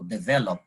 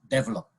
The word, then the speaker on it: develop: dictionary it says that the accent should be on the second syllable so develop right but you know 1 billion Indian Indian nationals would pronounce it develop now I always say